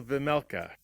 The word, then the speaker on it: Vejmelka: How do you say his last name? Karol Vejmelka. It's called Veggie. J is silent.